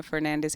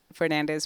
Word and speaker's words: Fernandes: my name is Tanya Fernandez Anderson pronounced Fernand not Fernandez but um I'm originally